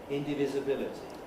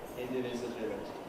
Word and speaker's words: indivisibility: Here's a word, a much longer word, which has more than one secondary stress. It's not common, but if the word is long enough, there can be a chain of syllables before we come to the primary stress, and we may